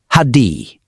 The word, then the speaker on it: Heidi: Lost in the city of LOL, trying to find absolutely any of his teammates, Heidi, who keeps insisting his name is pronounced Hadi, runs into a crazy madman that's screaming about how all is Cesraan.